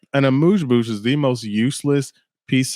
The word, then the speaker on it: amuse-bouche: please understand that they will serve you an amuse-bouche, which is not a real thing.